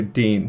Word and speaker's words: Dean: the fields his brother Dean pronounced like seen rolling in the fresh-cut